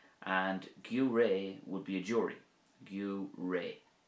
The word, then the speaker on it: Giúiré: And gaoré would be a jury.